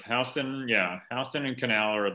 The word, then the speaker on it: Houston: to canal street houston very important yeah it's pronounced houston austin oh don't let the mafioso here i